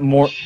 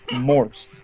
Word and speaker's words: Morse: What is using Morse code, guys? Hey, Morse code? It's not Morse. You know what? I'm a history guy, and I don't like that you called it wrong. It's Morse. M-O-R-S-E.